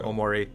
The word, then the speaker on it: Omori: What's the emphasis on? Omori or Omori? I mean, technically there shouldn't be any emphasis. It would all be pretty much so. Omori.